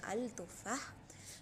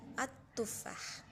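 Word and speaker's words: التفاح: You won't say al tuffah. You will say at tuffah.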